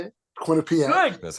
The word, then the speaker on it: Quinnipiac: Quinnipiac. Good. That's how you say Very it. Yeah. nice call. Yes, Quinnipiac.